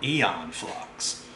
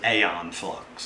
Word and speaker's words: Aeon Flux: the sentry gun from eon flux or is it a on flux or e influx i don't know there's a big debate going on over the name and how you pronounce it i like to stick